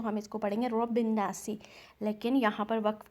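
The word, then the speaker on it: رَبِّ النَّاسِ: Means continue करते हैं, तो हम इसको पढ़ेंगे रब्बिन्नासी। लेकिन यहाँ पर वक्फ की अलामत है, यहाँ पर हमें स्टॉप करना है, तो हम यहाँ पर पढ़ेंगे रब्बिन्नास।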